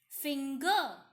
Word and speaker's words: finger: Finger, again G, not J.